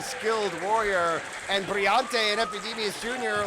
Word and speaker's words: Epydemius: Epydemius?